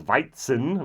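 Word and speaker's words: Weizen: Bavarian word for wheat so the German word is viten maybe you've heard of whites and beer and the Bavarian pronunciation is Ws so I don't like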